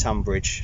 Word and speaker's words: Tonbridge: It's Tonbridge, straight away, schoolboy error. Tonbridge. Tonbridge. Spelt Tonbridge. Spelt Tonbridge, but pronounced Tonbridge.